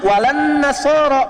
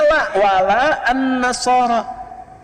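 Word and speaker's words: ولا النصارى: bacanya pakai e kan Alif lamnya Syamsiyah tuh ya lamnya masuk ke Nun Walan nasoro padahal itu tulisannya la wala annasaro Yahudi lebih dahsyat ya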